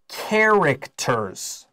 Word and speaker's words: characters: Our next sentence says, some of the fires are in the shape of Japanese characters.